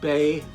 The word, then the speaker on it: Bey: Now, the correct one, as used on the mask here, is Ardath, and then his last name is Bay, B-E-Y, spelled like Marky Bay.